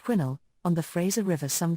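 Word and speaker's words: Quesnel: mil from the town of quinel pronounced quinnel on the Fraser River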